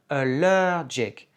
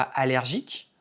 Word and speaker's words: allergic: Dans « allergic », il y a un accent tonique sur la deuxième syllabe. On dit « allergic ».